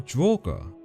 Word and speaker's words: Draugr: To the Norse folk and the legendary sagas, these undead beings were known as the Draugr, or the Draug in Norway, or Draugr going by the more modern pronunciation.